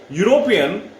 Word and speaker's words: European: European, usually many learners commit mistake. They consider E a ball and they use n here. They will be using n here. No, but here actually in European the sound is of U, Y double O, and Y is the sound of consonant, and that's why we'll use here a.